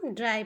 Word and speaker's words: dry: अब अगला शब्द है, लिखा है DRY। वाई। तो क्या हुआ, इसे हम ड्राई पढ़ेंगे, ठीक है। तो डी को हम डा लिखे और देखिए डा पे आधा रा है और वाई है तो ई हो गया ड्राई।